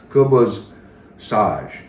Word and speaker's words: Khubz Saj: And nowadays, down even in the mountains and down in Beirut, it would be pronounced Khubz Saj.